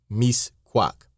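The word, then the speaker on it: Mixcoac: you an American wanted to see Mis quak pronounced Mis quack the conductor failed to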